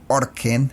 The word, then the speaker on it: Ørken: Eso es como una O con una diagonal cruzada. Entonces pues es como U. Le preguntamos cómo se pronuncia y es como O, como una especie de U, ya saben.